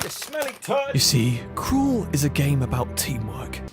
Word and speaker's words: Cruel: Cruel, or as it's meant to be pronounced, Cruel, is an absolute gem